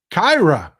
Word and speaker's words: Kira: Hey, Texas Paul, it's pronounced Kyra.